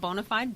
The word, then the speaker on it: BONA5D: well excited about my first book it's called bonafide bits and the bonafide of course is today